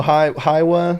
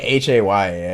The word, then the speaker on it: Häyhä: No, I think it's like Hayya. It's actually pretty easy, but it's got like the weird A.